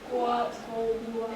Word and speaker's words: gouache: Guap, it's one syllable.